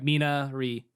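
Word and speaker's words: Minari: you i'm minority uh is it minori or menari i'm confused uh so it's it's so since it's korean yet to pronounce it's the it's korean word it's pronounced miri so mina ri okay cool okay just make sure i didn't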